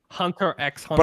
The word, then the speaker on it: Hunter x Hunter: Do you do you pronounce the X or don't you? No, I don't. I don't. Yeah. Who pronounces the X when you stupid Hunter X hunter?